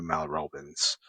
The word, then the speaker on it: Mel Robbins: Her name is uh uh Mel Robbins or Dr. Mel Robbins. Uh, sorry, she's American, so I should have pronounced her name as Mel Robbins.